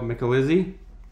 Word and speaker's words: Micalizzi: Micalizzi. No, wait a minute. So try to say that back to back. So I'm here with Michelle Micalizzi.